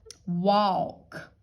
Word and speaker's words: walk: the CK there okay now don't forget we're gonna use our dentist a here that's what we decided to call it that's when the a makes the short o sound ah walk what ah l k